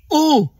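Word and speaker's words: eaux: It's like the word ox in English. It's just O, you don't pronounce the X.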